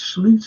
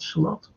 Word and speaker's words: Slot: It's Sloot anyway. It's not Slot. It's spelled Slot.